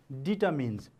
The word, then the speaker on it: determines: D-E-T-E-R-M-I-N-E-S, determines. See, many of the people pronounce it as determines. Its correct pronunciation is determines.